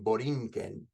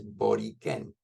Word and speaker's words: Borikén: sisters have been using the word Boriquen rather than Borinquen, which is not the correct way of pronouncing this word. It is Boriquen.